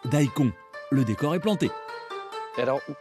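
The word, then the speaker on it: daikon: cause ce radier vers son nom signifie grosses racines et se prononce dahico le décor est planté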